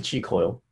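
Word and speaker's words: Qi Coil: And that's spelled Q-I, is the first word, and then coil, C-O-I-L, on your app store.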